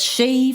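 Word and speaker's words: Sidhe: you about is pronunciation it's she for the people and Sid for the place she is the Irish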